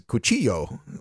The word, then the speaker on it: cuchillo: And I thought knife was cuchillo, like C-U-C-H-I-L-L-O, cuchillo.